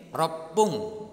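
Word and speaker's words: ろっぷん: Kalau 1 menit berarti ipung double P. Kalau 6 menit ropung. Kalau 8 menit hapung. Kalau 10 menit jupung atau jipung.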